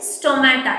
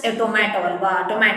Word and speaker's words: stomata: ಎಸ್, ಸ್ಟೊಮ್ಯಾಟಾ, ನಾಟ್ ಟೊಮ್ಯಾಟೊ. Okay, so almost Manny students R pronouncing this as tomato alva ಅಂತಾರೆ. ಸೊ ಇಟ್ ಇಸ್ not like that.